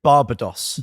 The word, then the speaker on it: Barbados: It's Barbados. Barbados green. Yeah, individual, German pronunciation.